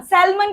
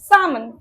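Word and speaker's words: salmon: স্যালমন, এটা একটা মাছের নাম, স্যালমন কিন্তু না, সামন। কি হবে? সামন।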